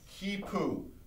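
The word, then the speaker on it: quipu: system of record keeping called kipu with a q i want to make sure i spell it right because kipu always always gets me it is still a u huh all right ki poo this is a uh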